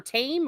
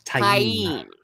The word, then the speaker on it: Taim: Is it Tam or Tame or Mazrim Time? Taim. Yeah, I call him Taim. At least that's how the audiobook. That's how they pronounce it in the audiobook.